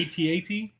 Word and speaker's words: AT-AT: That is how it's pronounced. Yes. Please don't screw it up. You will not. It's not an AT-AT?